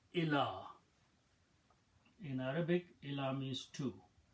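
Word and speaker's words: إلى: Then we take a lam and put a fataha and this little alif on ya. This is pronounced as ila.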